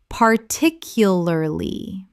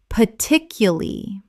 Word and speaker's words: particularly: Common mispronunciation. Particularly. Correct pronunciation. Particularly. Native speakers often drop the R in the final syllable and reduce the word considerably.